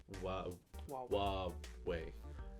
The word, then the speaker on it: Huawei: to pronounce the word w w way H makes the W sound Hua makes the was